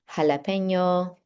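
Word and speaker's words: jalapeño: And then we have J, which makes what we think of in English as an H sound. So words like jalapeno, the double L makes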